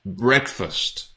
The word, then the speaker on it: breakfast: It's not breakfast, okay? It's breakfast. Breakfast. So not break, it's break. Break. And not breakfast. It's not fast, it's fust.